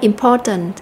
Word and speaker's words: important: Như vậy thì tính từ important nó có 3 âm tiết, chúng ta sẽ nhấn mạnh vào âm thứ hai là âm po.